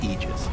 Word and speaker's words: Aegis: of elite for eg correct pronunciation technically speaking of ages is aegis this it's a literal